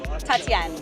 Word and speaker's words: Tatienne: Pronunciation of your name. Please tell me. Tatian. Tatianne.